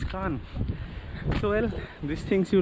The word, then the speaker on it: Cannes: And even we were pronouncing Cairns as Cairns, but it's actually not Cairns, it's Cannes.